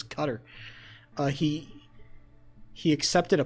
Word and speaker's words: Qatar: from goddamn I believe I believe the correct the correct pronunciation is cutter.